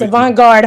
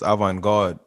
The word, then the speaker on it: avant-garde: to my french people i think it's a vanguard home so my people that speak french is avant-garde you know what i'm